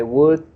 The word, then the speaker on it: would: Remember the words we could, the I would. You don't pronounce the L.